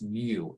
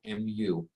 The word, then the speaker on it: mu: Um, but we give a funny looking Greek letter, the Greek letter m pronounced mu, mu, uh, that describes the stickiness.